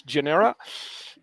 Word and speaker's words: GNR3RA: And with me is Lili Eva Bartha, founder and CEO of GNR3RA, which I think you should pronounce as Genera.